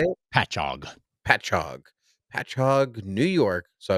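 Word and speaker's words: Patchogue: Um, this comes from Frank's original parts from uh Pashahogue. Is that how you say it? Patchog.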